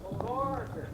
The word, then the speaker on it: Borger: Well, anyway, this is the most mispronounced city in the country, folks. This is Barger, Texas. Borger.